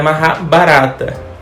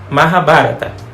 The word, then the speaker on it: Mahabharata: No início eu achava que a pronúncia era Mahabharata. Não faça como eu e aprenda a pronúncia correta. Mahabharata.